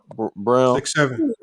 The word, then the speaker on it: Braun: went with christian braun brown interesting and they drank it says christian braun b-r-a-u-n they pronounced it brown i think because of the german he's german oh okay christian brown